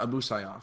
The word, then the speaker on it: Abu Sayyaf: Abu Sayyaf? Yeah, Abu Sayyaf.